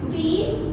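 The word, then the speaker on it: these: यहाँ पे देखिए ज के नीचे एक छोटा सा बिंदु है, इसको हम ज नहीं पढ़ेंगे, ज पढ़ेंगे। तो इसका प्रोनाउंस हो जाएगा दीज, इसका हो जाएगा दोज।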